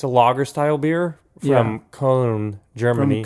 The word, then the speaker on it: Cologne: It's a lager style beer from Cologne, Germany. From Cologne, yeah, or Cologne as the Americans say it.